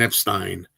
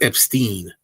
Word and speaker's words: Epstein: Beginning with the fact that his name was pronounced, he liked to pronounce his name Brian Epstein, not Epstein. So Stein is correct, Steen is not, he says his own name is Epstein in the movie, so that's wrong.